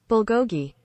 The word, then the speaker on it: bulgogi: looked it up and you know the official pronunciation is bulgogi Bill Gogi there you go well you know